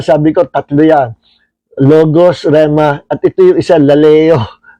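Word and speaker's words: ῥῆμα: At tingnan natin pronunciation. Strong G 4487 R. Kakatiwa ito rema.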